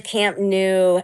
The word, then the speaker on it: Camp Nou: It is Camp Nou. It's holiday. Now, it's spelled n o u, but you are correct.